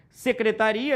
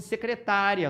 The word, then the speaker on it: secretaria: Secretaria está errado porque separaram como se fosse secretária, só que não tem acento. É secretaria, o A fica isolado, portanto, errada a letra C.